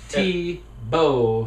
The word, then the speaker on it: Thibault: And it's T-Bow, so they're helping really him out.